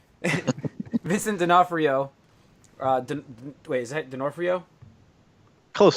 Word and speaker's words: D'Onofrio: All I know is D'Onofrio is how I say it for. I have people at where I work that are called. That's their last name, and that's how they pronounce it.